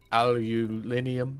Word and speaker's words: aluminium: out to the carrier or how is it the British say it aluminium aluminium they mispronounce it aluminium yeah you know the